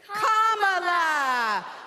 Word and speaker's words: Kamala: do you pronounce it first you say comma like a comma in a sentence then he say la like la la la la la put it together and it's 1 2 3 Comm La all right so let's